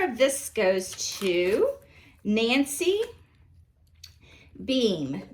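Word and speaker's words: Behm: this goes to nancy beam b excuse me nancy and your last name is spelled b-e-h-m beam i guess is how you pronounce that number five is the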